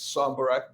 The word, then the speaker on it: Sombarac: It's Sombarac, Sombarac. You pronounced it well.